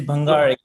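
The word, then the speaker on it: Bhangale: times so right so bangal or bang it's bangal bangali okay okay good I'm glad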